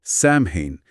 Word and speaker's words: Samhain: Ah, Samhein, sí, he oído mencionar ese nombre relacionado con Halloween. ¿Qué era exactamente este festival? Samin se pronuncia algo así como o se.